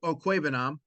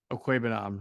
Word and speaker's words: Okwuegbunam: Go ahead, pronounce his last name. You do it better than Albert Okwuegbunam. Okwuegbunam, right.